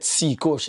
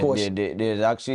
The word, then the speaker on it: cKush: mentioned your name, but I said cKush instead of Kush because of how you spell the word. So the guys was like, no, it's not cKush, it's Kush. The C is silent.